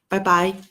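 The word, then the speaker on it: 拜拜: in Chinese we say bye-bye it's the same pronunciation actually it is a borrow the word from English bye-bye well as you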